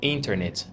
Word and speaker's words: internet: internet? Sometimes Americans can be really lazy with the T sound.